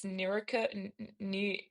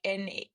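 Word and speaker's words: Nerurkar: It's Nurka, like Neurukar.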